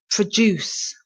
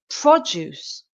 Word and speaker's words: produce: the stress is on the last part of the word the second syllable produce produce he worked all night to produce the marketing strategy and then we have produce pro pro produce Pro